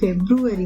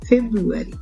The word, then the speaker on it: February: මගේ උපන්දිනේ ජනවාරි මාසේ February මේක February නෙවෙයි February කියලා තමයි pronounce කරන්නේ හරියට.